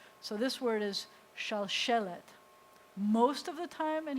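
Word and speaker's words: שלשלת: And the accent, one of the things that happens whenever you have a segolet is the accent is always on the first eh. So this word is shalshelet.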